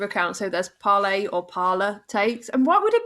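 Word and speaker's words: Parler: speak um thank you it was originally intended to be pronounced as in french but is now pronounced as the english word parlor so there we go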